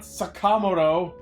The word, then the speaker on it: Sakamoto: It's Sakamoto, not Sakamoto.